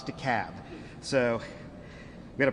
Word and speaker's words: DeKalb: DeKalb County, 802. And I want to take a note of personal privilege for a second for the Yankees in the room. It's DeKalb, not DeKalb, not DeKalb, it's DeKalb.